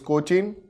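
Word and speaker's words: Kochi: Kandla and कोची here the कोचिन spelling is सीओ सी एच आई एन but this is कोची so between two के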